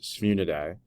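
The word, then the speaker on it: Sphyrnidae: The scientific name for the hammerhead shark is pronounced the Sphunidae.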